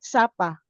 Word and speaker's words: Sapa: Did I pronounce it right? Sapa, Vietnam.